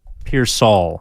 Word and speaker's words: Pearsall: Said I was speaking French because I was saying Pearsall, Ricky Pearsall. Yeah. Yeah. Generally with 2 L's at the end, you pronounce the all.